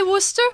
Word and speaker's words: Worcester: gets it right I know how to say Worcester okay well yes I am from Worcester in the UK and it's famous for was